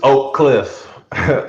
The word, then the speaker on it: Oak Cliff: correct pronunciation it's oak cliff um it's two syllables but i mean if